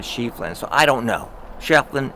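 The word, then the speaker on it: Schieffelin: If you go to Tombstone, they pronounce his name Shefflin. So you're always going to hear, you know, Shefflin. Shefflin. Shefflin Hall.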